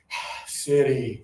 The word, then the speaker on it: city: So, we have to be very careful with these because this one accidentally sounds like this one if we're not trying. One more time, everybody. Low tongue. City.